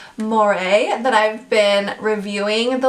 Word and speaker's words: Moerie: watching okay so i'm pretty sure you pronounce this moire but they have a